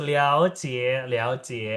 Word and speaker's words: 了解: Nah, 了解， sekali lagi, 了解， J dibacanya pakai C, rival. Jadi bukan J, tapi 了解， yes, Liao Jie.